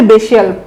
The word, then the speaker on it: bestial: বানানটা দেখেন, BESTIAL, উচ্চারণ হচ্ছে বেশিয়াল।